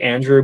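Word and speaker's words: Andrzej: Bonafide expert Andre and it looks like Andrew but with ZJ at the end pronounced Andre I should have just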